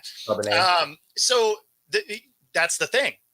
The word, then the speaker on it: Charbonnet: How are you on Walker and what Chardonnay or I think it's how do you pronounce Charbonnet, it? yeah. Charbonnet, So that's the thing right?